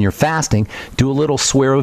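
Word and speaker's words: Suerovie: you're miserable when you're fasting do a little Saro V get yourself some of that SAR of v and maybe do half a bottle every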